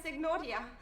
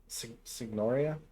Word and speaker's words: Signoria: It sounded like they had a hard G. Signoria, and find out why he has been imprisoned.